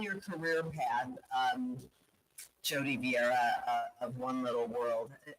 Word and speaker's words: Vieira: Am I pronouncing it correctly? You're very close. You are. It's Vieira.